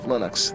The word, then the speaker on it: Linux: lonus and I really don't care how people pronounce my name but Linux is always Linux he developed a kernel and